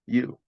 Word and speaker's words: Yew: And my last name is spelled YEW. I am you.